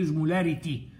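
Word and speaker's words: osmolarity: الازمولاريتي بير لتر، يبقى الار مع الار، ازمولاريتي بير لتر، ودي المهمه. انما الازمولاليتي ما فيهاش ار، دي بير كي جي، عشان ما تلخبطش مين بير لتر ومين بير كي جي.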